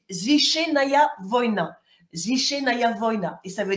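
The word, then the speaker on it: Священная война: la translitération en alphabet latin donc ça se prononce zichenaya Vona zichenaya Vona et ça veut dire guerre sacrée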